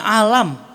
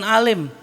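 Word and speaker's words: عالم: samar-samar ya lama-lama yakin ini bacanya alam bukan Alim yakin enggak yakin saking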